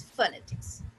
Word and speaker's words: phonetics: जैसे phonetics है, तो phonetics में क्या है कि pho, pho, phonetics, but it is not pho, it is phonetics, right?